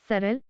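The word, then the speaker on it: সরল: बांग्ला में लिखते हैं सरल, गरल, खाब, जाब, करीब, लेकिन इनका उच्चारित रूप होता है सोरोल, गोरोल, काबो, जावो की तरह। उदाहरण के लिए अंग्रेजी के होट या नोट की ही तरह।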